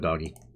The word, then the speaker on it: Doge: I'm gonna go with doggy. Everyone pronounces it Doge, but it's pronounced doggy.